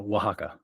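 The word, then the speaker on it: Oaxaca: that you were in Mexico and could you pronounce the name of that city for us? Oh, Wajaka. Wajaka. Wajaka.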